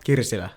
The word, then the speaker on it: Kirsila: Kirsila.